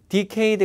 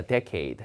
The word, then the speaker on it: decade: 한 달에 한번 자 발음 주의 decade 아니라 decade입니다 decade 10년 10년 동안 dec